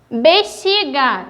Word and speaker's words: bexiga: esse ponto da consoante x bexiga tem som do ch táxi tem som do